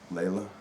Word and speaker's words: Layla: So that's pronounced, not Layla? Layla. Yeah, Layla. Layla.